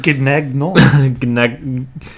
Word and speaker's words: Gnagnon: Joris or Joris Nagnon, I think that's how you say it. It's Gnagno. It's like Gannon. Gnagnon.